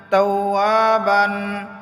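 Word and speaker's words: تَوَّابًا: ইন্নাহু কানা তাওয়াবান, তাওয়াবান, তাওয়াবান হয়তো অক্ফ করার কারণে দুই জবরের উচ্চারণ এক জবর হয়ে যাবে। তাওয়াবা, তাওয়াবা, ওয়ার মধ্যে এক আলিফ টান হবে, জবরের বাম পাশে খালি আলিফ মদের হরফ আছে।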